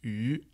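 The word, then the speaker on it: 鱼: Donc le poisson, ça se prononce U et ça s'écrit comme ça.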